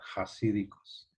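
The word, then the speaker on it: hasídicos: los judíos jasídicos bajar escribe con h a cívicos pero se pronuncia con jota jasídicos estamos jodidos las canchas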